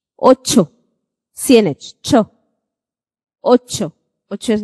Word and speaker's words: Ocho: Now, if you remember when I spoke about C and H coming together, the sound that they make is J. Let's look at how this is pronounced. Ocho.